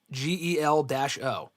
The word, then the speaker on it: Jello: So it is Jello, Gel-O. Yeah, I mean, it's not spelled like Jello, Jello, but RJ's selling it's like gel, like hair gel, and then O.